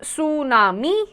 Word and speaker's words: tsunami: Tsunami, pronounced tsunami, is a Japanese word made of 2 parts.